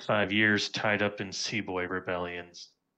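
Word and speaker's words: sepoy: years tied up in seab booy rebellions seaboy rebellions yeah it's uh Indian pronunciation essentially the old East Indian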